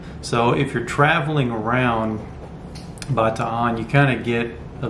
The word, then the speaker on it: Bataan: You probably have heard before pronounced Bataan or Bataan. The way that it's pronounced in the Philippines, as close as I can pronounce it, is Bataan.